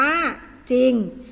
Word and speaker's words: จริง: เดียว คือ คำ ว่า จริง จะ ออก เสียง เป็น ตัว จอ จาน นะ คะ ซอโซ่ ควบ